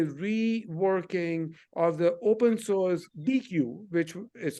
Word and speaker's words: Deequ: Data quality is actually a reworking of the open source DQ, which is spelled DEEQU. And so the Glue data quality is actually a managed service with some enhancements, not open source, of DQ.